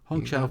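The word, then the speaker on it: Hong Chau: Angela Bassin black p um how do we pronounce this name honow yeah honow for the whale Carrie Condon for the Banshees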